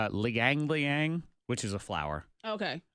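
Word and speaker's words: ylang-ylang: looks all weird okay what is this Y Liang y Liang Liang Liang is how it's pronounced and it's flower of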